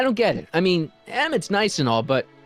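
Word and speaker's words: Emmett: bill to a te that's EMT Brown rhymes with clown which I'm beginning to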